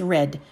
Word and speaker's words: read: a crazy pronunciation and the verb read is that it is pronounced read in the present tense in the past tense it's red so i read two